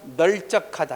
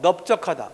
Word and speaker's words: 넓적하다: 자, 이때를 한번 리을을 선택해서 한번 발음해 볼까? 널쩍하다. 해봐. 널쩍하다. 시작. 널쩍하다. 이거하고 넓적하다. 뭐가 더 편해? 넓적하다. 그래서 언중들이 리을을 선택하는 보다 이런 환경에서는 비읍을 선택하는 것이 좀 더 자연스럽고 발음하기도 쉽다.